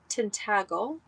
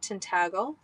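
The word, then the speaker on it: Tintagel: So, every church that I was led to, was along a pilgrimage path from Tintagle, that's how you pronounce it, Tintagle, where King Arthur's Castle is, where Merlin's cave is.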